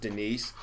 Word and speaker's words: Denise: Somebody, is there a D nice, sir? A D nice. It's pronounced Denise.